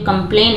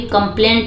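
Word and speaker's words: complain: कि शिकायत के सा यहां पे जो कंप्लेन है हम केवल कंप्लेन पढ़ते हैं इसमें टी साइलेंट रहता है ठीक है तो एन के बाद अगर टी हो तो वो साइलेंट रहता है और या तो फिर लास्ट में हो तो साइलेंट होता है इसको हम पढ़ते हैं कंप्लेन कहीं पे भी कंप्लेंट नहीं पढ़ते हैं हमेशा पढ़ते हैं कि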